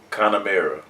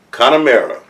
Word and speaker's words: Connemara: first time my tasting the first time oh pronounce it again connor mara connemara so here we go let's go with the